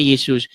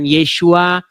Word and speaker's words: Yesus: Nah, kemudian orang Indonesia ya mengucapkannya Yesus. Nama itu tidak masalah. Mau dia diucapkan Yesus, mau dia diucapkan Yesua, itu tidak jadi masalah.